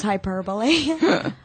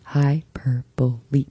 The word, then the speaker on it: hyperbole: As soon as I said that, I knew it was hyperbole. No, this is so fun. I don't know any three-syllable words like that. Wait, that is hyperbole. Four syllables.